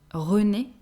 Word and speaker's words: René: We have a mixed name, René, René. That's a name that is usually given, well, people who bear these names are usually older, but the feminine version is pronounced the same way.